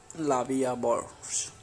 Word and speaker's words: La Vie en Rose: La Vie en Rose, literally life in prank, French pronunciation La Vie à Bourse, French L'amour, is a